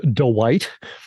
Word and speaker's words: Dwight: it's not Tim Dwight. The what? The White? The last name is one syllable, right? Dwight.